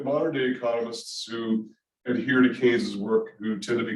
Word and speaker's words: Keynes: keynes's major work of the time and it's pronounced kings not keens the way it looks like keynes um and it was sort of the mainstay today the modern-day economists who adhere to kane's work who tend to be called neo-keynesians also